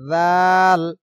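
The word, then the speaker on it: ذ: আলিফ পরিমাণ লম্বা হবে জাল উচ্চারণ হবে নরম উচ্চারণ জাল জাল জাল জাল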